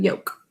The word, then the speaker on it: yolk: Today we're going to be looking at the yolk of an egg, that type of yolk. We think to spell this one as yolk, like folk.